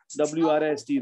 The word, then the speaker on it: wrist: WR cluster the W is silent, write, W-R-I-T-E, write, W-R-I-S-T, wrist, wrote, rest, wrong, wrestle, wrinkle, right?